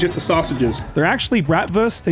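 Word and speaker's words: Bratwurst: They're actually bratvst, a German word where the W is pronounced like a V.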